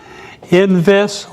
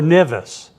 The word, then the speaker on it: NVIS: Near Vertical Incident Skywave, and here's your 2 pronunciations. NVIS or NVIS, and I'll use them both tonight interchangeably and not be aware of it.